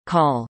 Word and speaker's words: Kölle: Cologne, English, German, Köln, pronounced Cone, listen, Ripuarian, call, Kohl, listen, is the largest city of Germany's